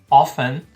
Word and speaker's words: often: But, antes ainda de começar, só sobre o pronúncio aqui da palavra often. Você tá vendo que eu não estou pronunciando o T, né? Often.